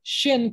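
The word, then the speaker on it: שין: here um but so that means the letter shin cannot have an s sound it has to have a different sound but it has the s h sound i believe they are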